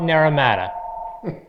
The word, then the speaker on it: Naramata: chris from b6 machina and we're talking about narrow matter that was the first time you pronounced the air matter right